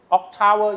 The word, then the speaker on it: Octave: get used to uh Octtowwer you know OC tower Octave in English. Sorry. Octtower is the pronunciation in German.